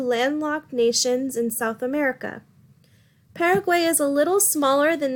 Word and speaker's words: Paraguay: the Western Hemisphere now we have Paraguay also pronounce Paraguay it is the other